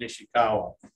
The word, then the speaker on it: Nishikawa: What I'm finding out is that the most resistant one to plant now is Nishikawa.